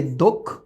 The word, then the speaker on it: দক্ষ: এটার উচ্চারণ কিন্তু এইরকম, এই যে দক্ষ, দক্ষ, হ্যাঁ দক্ষ।